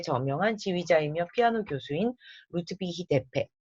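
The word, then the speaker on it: Deppe: 1885년 독일의 저명한 지휘자이며 피아노 교수인 루트비히 데페. 자, 대패. 우리나라 말로 하면 무슨 대패질 하나 할 때 이거 나무 가는 대패랑 저기 그 발음이 비슷하죠?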